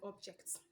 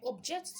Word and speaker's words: object: a noun but also if i should change the stress and put it on another part of the syllable i can actually change the class of that word and also change the meaning of the word for example i object